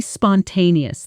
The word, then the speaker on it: spontaneous: We decided to be completely spontaneous this time. Notice the stress pattern. Spun, te, ni, us. The strongest beat sits clearly on the second syllable.